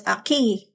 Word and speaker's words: aquí: And of course, aquí is pronounced like the U doesn't exist, but in Italian you say it qui.